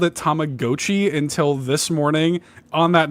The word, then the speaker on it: Tamagotchi: That is not how it's pronounced. Now, listen, Tamagotchi or like it is, you know, Tamago means egg. Like that's what it's about. So Tamagotchi actually makes sense.